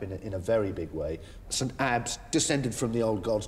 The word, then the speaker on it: Ebbe: Before I answer that question, I must pedantically point out the correct pronunciation should be St. Ebbe, but we'll stick to Ebbe because it's what we call around here, so fair enough.